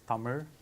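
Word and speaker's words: தமிழ்: the name of our language itself it is pronounced as summer summer is one of the oldest languages in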